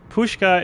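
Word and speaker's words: pączki: to load up on uh pushka is spelled like p-z-c-e-s-k-i or something like that um it's essentially a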